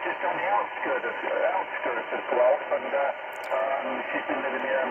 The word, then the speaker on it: Guelph: And my daughter lives just on the outskirts of Guelph, and she's been living here many, many years, and with her husband and, of course, my grandchildren.